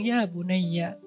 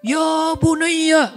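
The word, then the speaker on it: يا بُنَيَّ: Kenapa Ibrahim bilang ya bunayya? Itu bukan ya bunayya. Bukan gitu cara bacanya.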